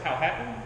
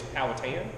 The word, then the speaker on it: Powhatan: So I pronounce it Powhatan, but the more traditional way is Powhatan.